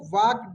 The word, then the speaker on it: walked: चलिए यहाँ पे देखिए, द टर्टवाइज, टर्टवाइज, द टर्टवाइज वॉकड, क्या पढ़ेंगे इसको, वॉकड, एल साइलेंट रहता है।